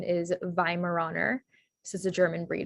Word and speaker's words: Weimaraner: um language pattern examples the va sound is spelled with a w so um this sound at the beginning spelled with a w and then the i sound in german is spelled with an e i so the the vi sound then would be spelled w e i um and so then your spelling is w-e-i-m-a-r-a-n-e-r for weimaraner um then another example was